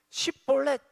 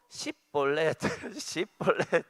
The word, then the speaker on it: 쉽볼렛: 그래서 쉽볼렛 해야 되는데 쉽볼렛이 안 되고 십볼렛.